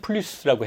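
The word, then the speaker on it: plus: 이 마지막 s를 보통 뒤에 마지막에 오는 자음을 프랑스어는 발음을 안 해요. 그런데 이 플루스는 하죠. 할 때는 어떨 때인가 하면 특히 이 플루스어 같은 경우에는 어떤 때 그것을 하는가 하면 이게 더라는 초과하는 느낌을 줄 때는 플루스라고 해요.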